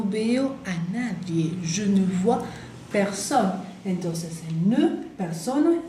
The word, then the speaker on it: vois: Je ne vois personne. Je ne vois personne. Acuérdense que la B corta en francés, bien, tiene que vibrar.